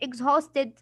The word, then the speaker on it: exhausted: Exhausted, some people read it exhausted, like you are Dutch or something. But it is exhausted. Huh, let me tell you how to read it. Exhausted. And the H is silent.